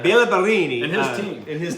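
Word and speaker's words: Béla Barényi: Or Bela Barini. Bela Bela Barini. Villa Bellini. Bella Barini. if you say it right, Bela Barini And his team.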